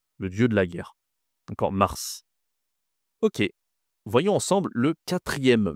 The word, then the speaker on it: mars: Mars, c'est le mois le plus facile à prononcer mais il faut être capable de bien prononcer le R.